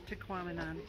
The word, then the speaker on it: Tahquamenon: Yeah, I can't pronounce it. It's Tequamanon.